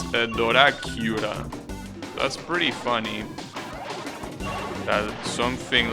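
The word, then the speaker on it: ドラキュラ: But the way it's written, it's Doracura.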